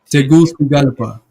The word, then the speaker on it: Tegucigalpa: Tegucigalpa. For some reason, the C is pronounced with the TH. That's what Tegucigalpa.